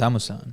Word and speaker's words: Amusan: But then I guess the big story coming in is Tobi Amusan, I hope I pronounce that correctly. it's Amusan.